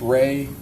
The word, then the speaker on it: Rey: There's also a visual spatial ability test and I'm going to have you explain or pronounce that for us. The rey test. Ray, the Ray Ostrich complex figure test.